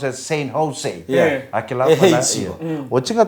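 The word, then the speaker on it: San Jose: In America, we don't say St. Joe's. Yeah. The letter J, it is pronounced as H. Yeah. So it's not St. Joe's, it's St. Jose.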